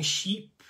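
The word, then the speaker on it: chypre: of this genre so technically it it's kind of if you say in french and my french is terrible you're almost kind of saying sheep but there's kind of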